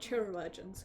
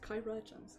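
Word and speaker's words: chirurgeons: care our chirogians can provide that's how you pronounce it not churro urgents kai regions huh the more you learn huh now we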